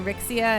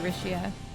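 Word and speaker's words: Alisha: like rishia actually I always called her vixia until I was listening to the way they pronounce her name in Japanese they say rishia so I imagine it's actually supposed to be rishia like Rish a lot too yeah she's great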